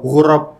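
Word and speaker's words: غراب: bukan garb itu oh gurab gurab panjang cob bahasa Arab sensitif dengan panjang pendekab hah iya kalau kita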